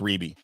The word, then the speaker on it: Rebbie: really all she's gotten Ruby Ruby yes pronounced Ruby well she she never wanted the Jackson 5.